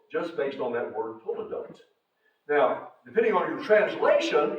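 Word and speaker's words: toledot: in the Book of Genesis the word is pronounced toote uh I've got a note about that in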